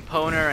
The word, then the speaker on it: Powner: dub watch out world here comes the raging poner and it's yappy yeah that's how you say my name friend i'm sure you pronounced it wrong already let me dream oh